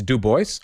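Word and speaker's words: Du Bois: vanan hooks Crenshaw Etc wait was it is it de or DUIs or wait did he reject the friends pronunciation was it duo or DUIs it is it is what why would you say it it's Duboce okay cool isn't it DUIs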